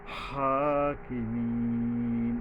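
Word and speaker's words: الحاكمين: হাকিমিন আবার লম্বা হাকিমিন এইযে লম্বা হাটার উপরে খাড়া জবর আছে এক আলিফ টানতে হবে এবং উচ্চারণে সাবধান হতে হবে হাকিমিন এইয়ার উপরে তিন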